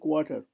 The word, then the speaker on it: quarter: QUAR, এই যে আরটা, এটা খুব একটা বেশি কোয়ার্টার এরকম করে খুব একটা বলা হয় না, কোয়ার্টার, ওই আরটা আর খুব একটা বলা হয় না, ওটা উজ্জ্ব থাকে।